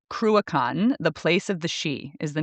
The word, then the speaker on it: Sidhe: So this is Gaelic, and the word is she. It is spelled Sidhe. That is not at all what it looks like, but it is pronounced she, and the she are the fairy folk, or the people of the mounds.